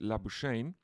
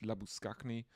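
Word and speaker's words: Labuschagne: gets electrocuted uh for saying that his name isn't labain uh and he has to clarify that is labus skaki but uh no other Australian can pronounce that so I will so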